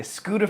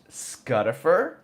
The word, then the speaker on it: Scuddifer: what do they say, Scooter for or Scuffed. I'm like, it's Scuddifer. It's a short U sound.